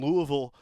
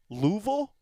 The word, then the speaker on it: Louisville: Oregon baseball, the postseason run starts tomorrow at 4 o'clock against Michigan, and the whole team is out currently in Louisville, Kentucky. Well, is it really pronounced Louisville?